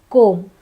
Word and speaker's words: comb: In the same pattern, we have basically. Basically. The next word is climb. It's climb, not climb, it's climb. Here, the B is silent.